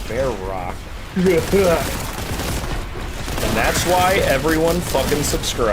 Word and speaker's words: Verac: a YouTube channel called bear Rock and that's why everyone subscribed it's cuz there's a k sound at the end of